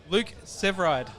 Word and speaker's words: Luke Severeid: We are here at Knotfest 2025 with a very special guest, Luke Severeid. Yeah, you said it right.